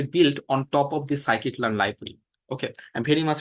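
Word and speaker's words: scikit-learn: library that is called psyit learn okay this pronunciation is psychic learn in in short we call it escalar this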